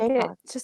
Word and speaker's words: Jaycox: Is it Jaycox? It's Jaycox, just like Jaycox. it's spelled.